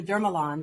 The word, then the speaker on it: Dermalon: After we're finished, and I want to call you Dermalon because I like the French pronunciation.